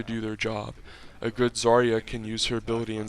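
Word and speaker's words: Zarya: with the pink hair zaria I think is how you pronounce it it definitely is with the Z and a and an R and a Y and an a zaria one of her abilities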